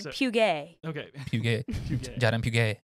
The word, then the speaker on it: Puget: So next up is what does Jade Puget, is that how you pronounce it, Jade Puget, or is it Puget? Puget, thank you.